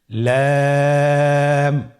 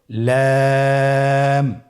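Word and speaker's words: لام: লাম হরফটি উচ্চারণের ক্ষেত্রে অবশ্যই বারিক হবে এবং তিন আলিফ টেনে পড়তে হবে। আপনারা আমার সাথে বলুন। লাম।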